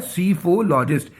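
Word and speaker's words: psephologist: सीफोलॉजिस्ट। P silent होता है इसमें।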